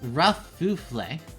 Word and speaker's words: Kerfuffle: That's pronounced Kerfuffle.